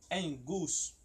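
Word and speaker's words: ἐγγύς: Mas quando tem dois gamas junto, o primeiro ele tem som de N e o segundo ele tem som de G normal, tá? Então por isso que você pronuncia em gus.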